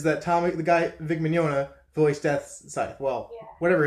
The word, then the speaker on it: Mignogna: well immune to this pronounced just like lasagna so well in a